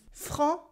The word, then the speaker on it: franc: You have a nasal en en, and a silent C at the end, even in the plural. It's like blanc, blanc for white. Repeat after me. Franc, franc, franc.